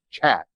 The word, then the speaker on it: khat: of the countries and it's spelled khat but if i understand correctly it's pronounced chat it's the chat industry